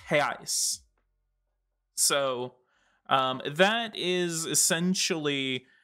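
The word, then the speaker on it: reais: singular term and the plural is reno is pronounced heis so um that is essentially um one way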